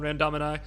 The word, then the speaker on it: Randomini: Okay, well, thank you so much for coming on, Randomini. You pronounced it correctly.